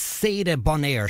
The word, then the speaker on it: Sadie Bonaire: That is, I got her name wrong originally. I'm going to try and get it right. It's Sadie Bonaire. Sadie Bonaire. I think I said Sadie. Sadie Bonaire.